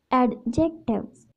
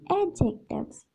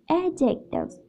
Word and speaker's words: adjectives: you one thing students this word is not pronounced as adjectives actually we don't pronounce it with da sound because da sound is silent over here and we will pronounce adjectives adjectives without the sound next example is an awful